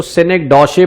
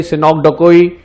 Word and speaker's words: synecdoche: इसकी प्रोनाउंसिएशन याद रखना, कई लोग इसको सिनेक्डोशे पढ़ते हैं, कई सिनोक्डकोई, तो different pronunciation. Right pronunciation is सिनेक्डकी, SYNECDOCHE, सिनेक्डकी।